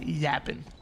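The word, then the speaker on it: Yappin: Tony thank you we y a p p i n no G no G by PP i n okay got it you say it like that 45 to 21 lead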